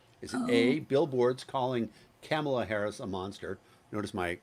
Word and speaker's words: Kamala: across the state is it a billboards calling kamela harris a monster notice my correct pronunciation of her name 15 months into the